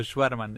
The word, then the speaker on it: Schvartzman: Yo digo Schwarzman, es medio austríaco, alemán, Schwarz es negro y Mann es hombre y es blanco, o sea...